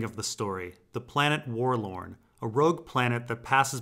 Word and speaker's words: Worlorn: And Warlorn rhymes with forlorn, which means abandoned or lonely.